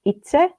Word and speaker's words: Itse: So it's pronounced Itse, and for English speaking people, I say Yeah. it's like itself, but without the elf.